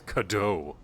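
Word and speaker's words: Cadou: Yeah, I've been pronouncing it Cadu, but it's Cadeau.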